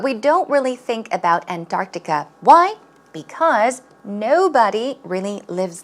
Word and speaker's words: Antarctica: For example, as in Antarctica. Pronunciation is not Antarctica, it's Antarctica. 약간 뜨 발음이죠?